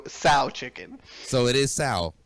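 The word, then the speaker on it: General Tso's chicken: do with the chicken he made it like a sow is is what right like a pig i'm just making sure you understand that you'll never forget how to pronounce it ever again it is what it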